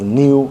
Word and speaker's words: nu: And that v, okay, actually should be pronounced as nu, okay?